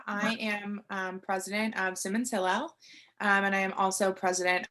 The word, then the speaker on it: Hillel: So how long have you been the leader of the Simmons Sirens and the president of Simmons Hill? Did I pronounce that correctly? Hillel.